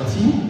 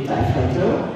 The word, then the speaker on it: TIE Fighter: lui expliquer quand même qu'on ne disait pas chasseur T, mais TIE Fighter, ou chasseur TIE dans les anciens.